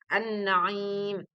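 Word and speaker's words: النعيم: An-Naim. Pelafalan bacaan alif lam samsiyah disebut juga idgham samsiyah.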